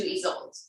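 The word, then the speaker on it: Isolde: to switch focus to ease old which that's how you say her name is old i get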